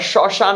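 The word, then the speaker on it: শ্মশান: এখান থেকে এক্সাম্পল দিলাম আমি কি শসান বলি না শশান বলি শসান কি বলি না আমরা শশান বলি এইযে এবং এর মধ্যে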